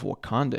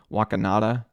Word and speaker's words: Wakanda: the first mention of wakanda in this movie where Bruce botches uh the pronunciation saying wakanada and and it's it's